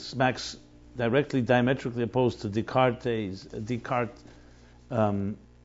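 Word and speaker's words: Descartes: directly diametrically opposed to decar decart um decart should be the way we pronounce it theory about I am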